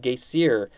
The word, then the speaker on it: geysir: The first geyser or the first named geyser is in Iceland, and it's pronounced, I think, geysir, spelled G-E-Y-S-I-R. So supposedly, that's where we get the word geyser from.